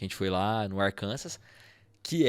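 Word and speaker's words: Arkansas: do arcansas que lá Inclusive a pronuncia arkans arkans não tem o s no final beleza foi minha primeira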